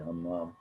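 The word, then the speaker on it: همام: کا نام حمام تھا، یہ گول والی ہے، دو چشمی ہے، میم الف میم، اس کا تلفظ ہے حمام، ہم سے نکلا، ہم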